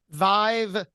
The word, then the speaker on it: vYve: what she brings to the table as well Vive by vayer uh v yve v v most people would spell it VI ve but it's VY ve right